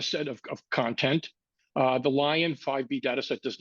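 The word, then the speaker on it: LAION: lion 5B data set lion is spelled l a i o n not lion as in as in large carnivorous cat uh and it was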